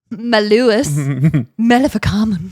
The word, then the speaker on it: Malleus Maleficarum: also a book called, and I'm going to mispronounce it, but here we go, Malleus Maleficarum, which sounds witchy, but it is essentially gorgeous name for a girl. Malleus Maleficarum.